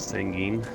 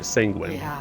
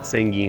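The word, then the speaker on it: Sanguine: of course I love sanging sorry sanguin sanging is how the kaj pronounce it uh yeah did you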